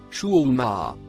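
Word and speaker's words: شحومهما: de victoire facile maintenant le mot écrit en rouge il se prononce chou Oumar il a été interprété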